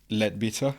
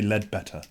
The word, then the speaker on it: Leadbeater: Hey, look, you're Italian and I got mates that can't even say my name properly. Okay, that's perfect then. They always say lead better.